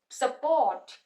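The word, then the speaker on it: support: syllables है यहां पे स्ट्रेस जो है वो पोट प जा रहा है स को आराम से प्रोनाउंस करना है और पोट प थोड़ा सा हमने स्ट्रेस देना है तो बन जाएगा सपोर्ट सपोर्ट तो हम सपोर्ट ही बोलते हैं स्पॉट स्पॉट सपोर्ट तो ये डिफरेंस है तो प्रोनंसिएशन के अकॉर्डिंग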